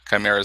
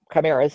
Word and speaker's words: chimera: their primer is or chimeras however you want to pronounce it I think chimera is correct and crime arose from my